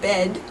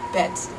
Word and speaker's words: bed: T so for instance the English word bed bed with a voiced D at the end might be pronounced by a Dutch person as bet bet with a t as if it were